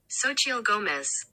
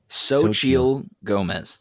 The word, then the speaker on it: Xochitl Gomez: How do you pronounce that name? Yeah, I'm super curious. Xochitl Gomez. Xochitl Gomez.